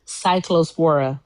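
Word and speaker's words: Cyclospora: I never can like pronounce it fully. We're going to settle this right now. Lettuce uh thing. Cycllospora.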